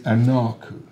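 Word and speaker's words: anaku: The word in Assyrian for I is anarku.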